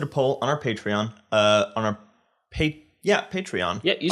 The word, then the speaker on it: Patreon: So we posted a poll on our Patreon, Patreon.